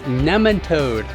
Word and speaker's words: nematode: 3 in the series Cover Crops to Kill Nematodes. It's pronounced nematode. I've heard it pronounced both ways, and I've always pronounced it this way. I know, but soil biologist Dr. Elaine Ingham pronounces it nematode.